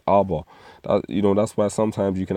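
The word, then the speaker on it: אבא: Now, the Hebrew word for fathers is Abba, but they've got it again in Yiddish. Strong's H1. Of. See, they've got the Yiddish pronunciation. The actual Hebrew word is Abba.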